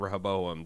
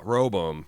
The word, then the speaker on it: Rehoboam: there's some conflict and Rehoboam they've they've hinted I think I'm saying that by just skipping the second syllable now this is wrong Robo roboam ro boom there's some